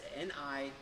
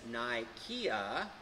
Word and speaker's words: Nicaea: So it's N-I-C-A-E-A. And so you might see that as Nikea, like IKEA, or you might see it here it said as Nicaea, and it's really not pronounced as to, you know, which one is the right way, I don't know.